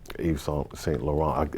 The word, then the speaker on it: Yves Saint Laurent: You couldn't come into the fashion world and not know who Halston, Yves Saint Laurent, am I saying it right?